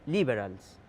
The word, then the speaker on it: liberal: que son liberales los liberales es que es el nombre que en Estados Unidos toma la centro izquierda liberal con acento en la i quiere decir este en